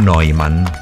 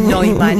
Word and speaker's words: Neumann: En la tapa de la revista Hola ha salido Nicole Neumann. No es Neumann, es Neumann. No, es Neumann. Buah. Es un apellido de origen alemán, bueno, y la EU se pronuncia.